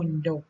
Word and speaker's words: มณฑป: ถัด มา นะ คะ ที่ คำ ว่า มณฑป นะ คะ อ่าน ว่า มน หยก นะ คะ ความ หมาย